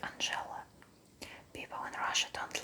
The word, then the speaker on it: Angela: pretty number two is Angela it's like English name Angela and in Russia we pronounce it Angela people in Russia don't